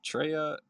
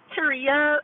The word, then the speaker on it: Tria: Is it Tria or Treya? Help me out. Oh, it's Tria. It's like Maria with a T.